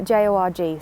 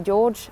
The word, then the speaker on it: Jorg: really struggle to pronounce it's j-o-r-g so it could be jorg could be yorg could be george i have no idea i'm gonna go with yorg because that's what they say in the audiobook but our main